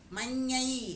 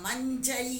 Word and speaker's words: மங்கை: கரையாட கெண்டை கயத்தாட மங்கை மங்கை அப்படின்னு படிக்கணும் மஞ்சை அப்படின்னு சில பேர் படிப்பாங்க படிக்கக்கூடாது மங்கை அப்படின்னா மங்கை அப்படித்தான் சொல்லணும் எப்படி அந்த எழுத்து உச்சரிக்கப்படுகிறதோ அதே மாதிரி சொல்லணும் கயத்தாட மங்கை சுரையாழ அம்மி